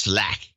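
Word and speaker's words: Slaght: It's got it spelled S L A G H T. And he says pronounced Slack.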